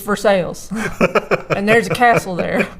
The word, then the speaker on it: Versailles: Home in Versailles which is actually how it's pronounced in Kentucky yeah no it's Versailles if you're French in Kentucky its Versailles and there's a castle there as castles amazing